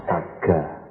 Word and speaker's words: sagga: Bahasa Palinya Sagga, S-A-G-G-A. Disanskertakan menjadi swarga. Bahasa Jawanya swargo. Swargo itu adalah pengucapan swarga dalam bahasa Sanskerta dengan lafal Jawa.